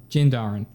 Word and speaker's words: Din Djarin: Din Djarin.